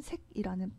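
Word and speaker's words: 塞: 새옹지마 라는 말이 있습니다 변방을 뜻할 때는 새 라고 발음을 하고 막히다 라는 뜻의 는 색이란 음을 가졌습니다 변방 늙은이의 여기서 갈지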